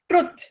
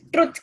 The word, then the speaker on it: truth: But we call it as truth. Truth kya hai? The actual pronunciation is truth. You have to imagine as if there are two O's over there.